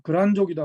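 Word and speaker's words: 契丹: 그러니까 뭐 예를 들어서 거란족이다 우리가 이제 이야기하자. 거란족. 거란족 할 땐 이렇게 쓰고 이렇게 씁니다. 글단이라고 쓰고 이걸 거란이라고 읽어요.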